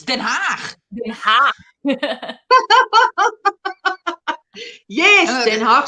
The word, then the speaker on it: Den Haag: Because if you had The Hague, like, well, no, it's not The Hague. It's Den Haag.